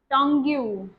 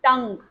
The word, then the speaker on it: tongue: They just say it tongue you. Sometimes they may say it, but this is tongue.